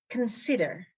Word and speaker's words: consider: rarely word number six consider consider consider the stress is on the second syllable on s consider and just as